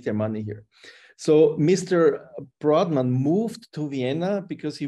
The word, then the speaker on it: Brodmann: than 200 years back Mr broadman as we pronounce it in in Austria Mr broadman he came from Germany